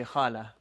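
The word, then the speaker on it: خالة: end this on a sukun and this is pronounced as a hat if you end it on a sucoon so you say hala and this one you'd say khal that's it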